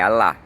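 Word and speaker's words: Allah: E olha que interessante, pros muçulmanos, a pronúncia do nosso criador é a lá, né?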